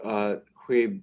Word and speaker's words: Huib: And then I asked my Dutch lab mates for help with pronunciation, but it's Huib, right? Huib, yes, yes.